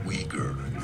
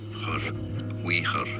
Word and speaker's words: Uyghur: In English it's said as Uyghur, okay? Now in British English, Uyghur, it's how it's generally pronounced, Uyghur or Uyghur in American English.